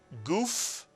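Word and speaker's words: גוף: How would you pronounce this real Hebrew word? If you said guf, you are correct.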